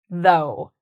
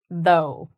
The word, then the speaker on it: though: It's pronounced though. The pronunciation is actually kind of simple because this becomes like an O. If you can say the letter O, you can say though.